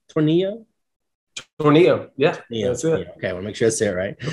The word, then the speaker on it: Tornillo: Tornillo.